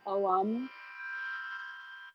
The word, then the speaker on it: Om: So we'll be singing Om, O-Om, pronouncing it O-Om.